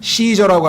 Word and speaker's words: 시저: 이 카이사르라고 하는 말은요 이 일상 우리 세상에서는 시저라고 합니다. 시저. 그러니까 시저라고 하는 그 로마의 황제의 타이틀이 이 성경에서는 카이사르라고 되어 있는 것은 라틴어의 철자 C 때문에 그래요.